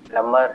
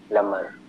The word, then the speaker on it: plumber: इस शब्द का सही उच्चारण लमर है, इसमें बी साइलेंट होता है. देखिएगा, लमर.